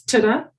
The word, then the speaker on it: tida: For sister, it's tida.